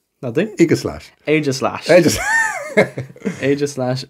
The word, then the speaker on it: Aegislash: Go and pronounce it. Igaslash. That thing? Igaslash. Aegislash.